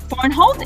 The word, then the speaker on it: Vornholt: Excited to have today Sharon Vornholt. Did I pronounce that correctly, Sharon?